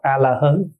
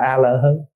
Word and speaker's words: A-la-hớn: Cho nên thay vì A-ra-hát đọc là A-la-hán thì các cụ dạy là đọc A-la-hớn. Và quý vị thỉnh thoảng sẽ nghe các vị đọc là A-la-hớn.